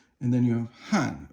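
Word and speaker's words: 汉: 三点水, and then you have Han is fourth tone, and that's Yo actually, but it's pronounced Han, and it means Han Chinese.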